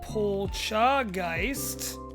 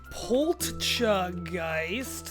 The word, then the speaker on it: Poltchageist: And Polchageist. No? Poltchageist.